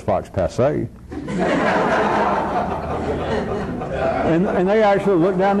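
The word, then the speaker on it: faux pas: They took the way that I mispronounced Fox Pass when I know damn well it's Fox Passe.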